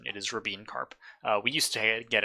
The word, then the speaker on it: Rabin-Karp: own thing and yes that is the correct pronunciation it is rabine carp uh we used to get it wrong like